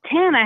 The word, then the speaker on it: Tana: live my name is Tana how's it going what's your name Hannah spell it like Montana without them on oh yes yes I